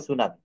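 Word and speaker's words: tsunami: রয়েছে টি সুনামি কিন্তু এখানে টি টা উচ্চারণ করা হয় না এটা আজকেই ডিকশনারিতে দেখবেন টি সুনামি লিখতে হবে এটা কিন্তু বলতে হবে সুনামি বুঝতে পারছেন হ্যাঁ সাইকোলজি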